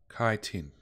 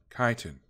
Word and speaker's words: chitin: By the way, Ch-in is pronounced as K, sort of like kiting. So it's kiting? Where is this stuff? Chitin. Chitin.